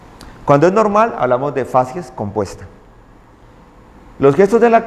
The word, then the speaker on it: facies: Sexto elemento en la inspección general del paciente, la facies. Y las facies. Facies es un término que se escribe y se pronuncia igual en singular y en plural. Uno dice la facies, las facies.